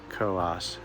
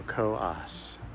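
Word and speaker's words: Coös: I finally do know that it actually is pronounced Co-Os Trail, because I read a history book and it included the proper pronunciation of Co-Os. So Co-Os.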